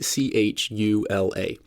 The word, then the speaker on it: Tchula: the former police chief of Chula Mississippi and that's spelled t c h u l a Chula is a small town in the middle